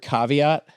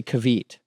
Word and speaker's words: caveat: the word you know the word caveat I heard someone say kavit kavit yes but I gu